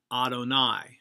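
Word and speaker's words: יהוה: And verse 2 starts off with but, be-torat, Adonai. Again, I'm pronouncing Yahweh as Adonai as it's pointed.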